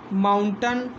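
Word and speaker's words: mountain: ये कर्टन, ये माउंटन। ठीक, ये सर्टन, ये विलन। इसमें ए आई आ रहा है, लेकिन ए आई का उच्चारण क्या है, छोटा आ के रूप में हो रहा है।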